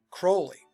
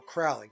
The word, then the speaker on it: Crowley: And, by the way, Crowley, or Crowley, depending upon how you want to say his name, because all of Alice's work goes back to the Egyptian mysteries as well.